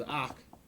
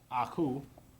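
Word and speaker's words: akh: the of as the a okay this is AK okay some people pronounce it as the coup I know SAR Society they use this term C others say AK others say um Aku all right um I haven't gotten other pronunciations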